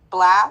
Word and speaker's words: Blxst: Blast.